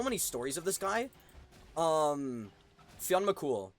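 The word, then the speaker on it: Fionn mac Cumhaill: Fionn McCool, right? And cool is spelled like Cumhaill.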